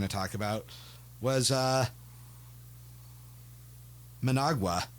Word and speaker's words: Managua: talk about was uh Managua or Manguia or however you pronounce that. He says it in the song, but it's really fast. Managua. Managua.